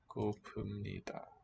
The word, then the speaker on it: 고픕니다: So the boundary really is here between root and grammatical ending. M written with a B, but assimilating nida.